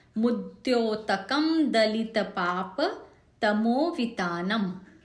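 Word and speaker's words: तमोवितानम्: मुद्योतकम दलित पाप तमोवितानम, म एंड वाला जो म है आखिरी वाला वो हलंत है, आधा है, तो तमोवितानम, तमोवितानम ऐसे नहीं करेंगे। जैसे कि मैंने बताया था हलंत आधा है, उसका उच्चारण आधा ही होना चाहिए।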